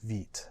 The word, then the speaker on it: Vite: It is pronounced Vite, not Vite. And it means quick in French, which is where the name comes from.